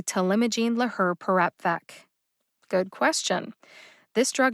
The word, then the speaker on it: talimogene laherparepvec: perepvec how did i know how to say to limogene lahr perapvec good question this drug name is intimidating to